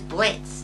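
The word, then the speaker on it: Blitzø: Number 4 is Blitz, the O is silent, from Hell of a Boss.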